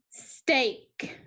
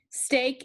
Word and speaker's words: steak: Stake, A. Stake is the keyword for the A sound of digraph EA.